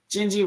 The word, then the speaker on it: Gingy: Gingy rhymes with Pingy.